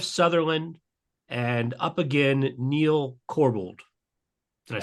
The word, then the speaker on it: Corbould: And the nominated team is Alex Woodka, Simone Coco, Jeff Sutherland, and up again, Neil Corbould.